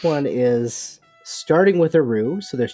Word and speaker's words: roux: We got roux.